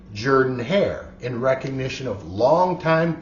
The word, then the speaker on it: Jordan: Now, I know a lot of people mispronounced that, but I did my best. It looks like it should be Jordan, but it is Jordan.